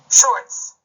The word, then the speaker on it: shorts: 받침으로 자음이 2개 이상이 사용될 때 우선은 하나의 발음은 강하게 소리가 납니다. 따라서 sure, 여기까지, 즉 sure까지는 강한 발음이 될 것입니다. 그리고 티읕으로 표기된 이 부분은 약하거나 거의 소리가 나지 않습니다. 그리고 마지막에 시옷을 흘리듯이 열린 소리로 내게 되는 것입니다. 따라서 이 원리를 종합해서 글자를 읽어보면 short 이렇게 되는 것입니다.